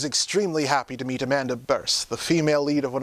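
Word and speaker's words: Bearse: happy to meet Amanda burst the female lead of one of my favorite horror movies fright night and yes it's verse as in hearse I've been apparently pronouncing it wrong all these years too she was kind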